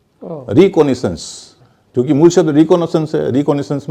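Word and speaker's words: recce: है एक शब्द है जिसको रेकी कहते आरई डबल सीई रेकी का मतलब य होता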